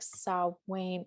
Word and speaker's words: Samhain: right after you'll but samheim is or samhain don't quote me on pronunciations i thought it was like so wayne yeah it is i'm going to be